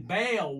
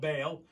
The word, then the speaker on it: Baal: There was one altar set up to the ancient Syrian Baal worship. We know about Baal, or Baal, some people pronounce it.